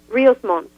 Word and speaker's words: Ríos Montt: The President Monte, is that how you pronounce his last name, or Montt? Ríos Montt, yes.